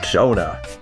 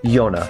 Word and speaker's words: Jonah: the OC of Tweetsie12Productions, also known as Jonah, or Yonah, depending on preference of pronunciation.